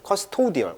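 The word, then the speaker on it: custodial: 이거의 형용사가 이제 커스토디얼, 오우 발음입니다.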